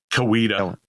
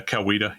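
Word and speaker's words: Coweta: So yeah, they go to the East Coetta. I That's how you pronounce that, right? Kawita. Kawita. Yeah. Weed. Yeah. Kawita.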